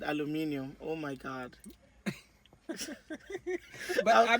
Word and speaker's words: aluminium: got up and said aluminium oh my god but i mean that is the proper pronunciation for it so i knew what